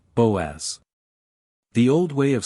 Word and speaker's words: Boaz: Pronouncing, Boaz.